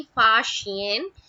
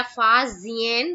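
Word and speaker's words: Faxian: ऐसा ही कुछ चीनी जो पिलग्रिम था, चाइनीज पिलग्रिम, चीनी तीर्थ यात्री फा शियन, है ना, या फा जियन, दोनों प्रोनाउंस करते हैं, हिंदी में फा शियन बोलते हैं और इंग्लिश में फा जियन।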